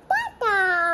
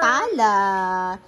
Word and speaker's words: Tala: Tata. Tala. Si Tala, guys. Si Tala, hindi pa niya napopronounce yung L. So, yung Tala niya, Tata.